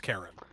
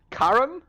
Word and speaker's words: Charon: I've heard it as Karen in mythology classes before, which is why I'd listed it as pronounced Karen. So correct pronunciations are Karen, Charon.